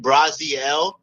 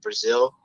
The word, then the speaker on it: Braziel: Yeah, like I often get my last name like Englishized, where like we pronounce it in English as Brazil. Okay. But if you look at like Brazil on a map, like the spelling is different. But when you pronounce my last name, like using like etymology, it's Braziel.